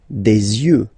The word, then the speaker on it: yeux: And then the last one, this is probably the most strange one, un œil, des yeux, okay, don't pronounce the final X as usual, des yeux, alright.